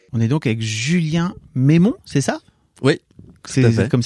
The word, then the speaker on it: Meimon: et bonne écoute on est donc avec Julien mémo c'est ça oui c'est comme ça que ça se prononce ton nom c'est ça et c'est pas